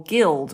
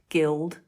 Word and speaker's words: guild: come to exceptions but things like the word guess or guest or Guild or guilt the G is followed by what you are you yeah so that would make you think it's a soft but it's not it's hard it's the same rule it's not i e or Y so it's guess guest Guild guilt there are exceptions we're